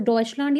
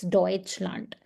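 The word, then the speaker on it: Deutschland: eu comes together okay whenever eu comes together in any German word that's going to be always oi okay so we have e and u here so that is why we are saying not du but doi okay so that is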